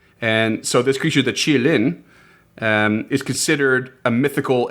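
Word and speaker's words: qilin: So, from I'm going to do my best, but it's supposed to be pronounced something along the lines of chi-lin. And so, this creature, the chi-lin, um is considered a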